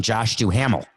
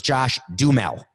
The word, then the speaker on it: Josh Duhamel: him apparently a listener corrected me because i pronounced josh duhamel's name joshu hamel but apparently it's josh dumel so thank you for correcting me you know